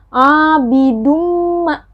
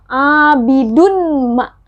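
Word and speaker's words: عَابِدٌ مَا: Jadi dimasukkan dan didengungkan. Jadi bacanya begini. Abidumma. Nah, dumah tanwin ini sudah tidak terdengar lagi ya, karena dia masuk dumah tanwin bertemu dengan huruf mim. Dumah tanwin ini masuk ke huruf mim. Jadi abidumma sudah tidak terdengar abidunma. No. Tapi bacanya adalah abidumma. Abidumma. Jadi tidak ada nanti yang baca abidunma. Itu tidak ada lagi yang baca seperti itu ya.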